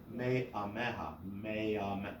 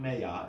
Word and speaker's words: me'ameha: It's actually, it imparts a glottal stop. If it has a pronounced vowel, you pronounce just the sound of the vowel, but with a glottal stop. So this isn't me'ameha, it's me'ameha. Do you hear the difference? Yeah, without accenting it, me'ameha, not meya, it's not mayonnaise, right? Me'ameha. Do you hear the stop?